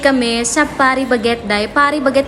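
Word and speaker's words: Paris Baguette: Par baguet daw yung pag-pronounce niyan. Hindi Paris bagette.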